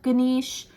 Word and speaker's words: Ganesh: wrong it's like Buddha gisha not no Buddha Ganesh so kind of like I want to say